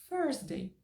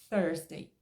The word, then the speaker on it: Thursday: cuidadosamente thday ferra pessoas da Índia nativos também pronunciam thday Então como que eu vou falar que tá errado e que você tem que Obrigatoriamente pronunciar thursday e se você não consegue fala thursday então